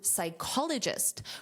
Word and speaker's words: psychologist: The same pronunciation also applies to psychologist, which is also a noun, but it's a job title.